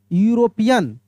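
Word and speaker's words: European: जैसे अगर लिखा हो मेरे दोस्त ई यू आर ओ पी आई ओ एन पी आई ए एन ठीक है यूरोपियन यूरोपियन अगर इस तरीका से लिखा हो तो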